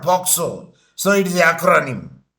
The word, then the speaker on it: POCSO: I pronounced it as a one word, POCSO.